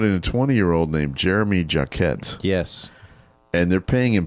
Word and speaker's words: Jacquet: I've only seen clips, but it's How do you pronounce his name? Jeremy Jacquet.